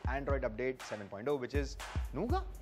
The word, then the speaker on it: Nougat: update 7.0 which is nuga nuga that's correct a lot of people mispronounce it but it's called nuga I can't even pronounce